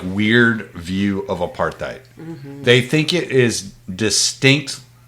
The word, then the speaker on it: apartheid: different wing yeah and it's pronounced apartheid by the way I know anyway what was